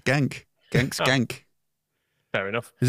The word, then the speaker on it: Genk: I thought you'd have had a more full pronunciation than that. I think I can't really do anything with Genk. It's Genk.